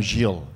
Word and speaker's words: Gilles: Yeah, so first of all, I'm Gilles. You know the French pronunciation, but that's okay for me.